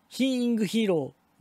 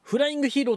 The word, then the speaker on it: 飛ingヒーロー: 日飛び飛んでヒーローヒーイングヒーローではなくてフライングヒーローと読みますとても面白いとても面白い